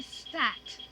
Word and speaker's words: stacked: I stacked the wood. Suffix ed, stacked. The e is silent. That d turned into a t.